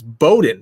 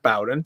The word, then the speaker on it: Bowden: me on the pronunciation it's Bowden not Bowen so uh if that's